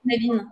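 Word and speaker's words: Cynefin: qui est assez connu, qui se prononce Knevin en anglais, sur la théorie de la complexité.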